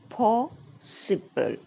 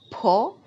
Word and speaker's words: possible: Next one is possible. Possible. Can you see there are three syllables in this word? Po, which is having a stress on it. Possible.